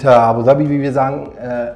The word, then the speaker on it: Abu Dhabi: all those who didn't know it is indeed abuabi and abuabi as we say so that's how we pronounce it by the way yes, I know